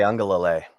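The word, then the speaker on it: Uiagalelei: Ungalale. Ungalale, him entering, he's in the portal, I believe, right?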